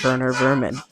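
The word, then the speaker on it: Werner Werman: Even down to the name being spelled Warner Verman, but it but it makes sense to pronounce it Wer Vman.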